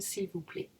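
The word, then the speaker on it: s'il vous plaît: plait s'il vous plait remember that T is silent in s'il vous plait and defi s'il vous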